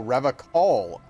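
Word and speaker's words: Revachol: Oh, Revacol, huh? He pronounces Revacol with a hard K, unlike other people.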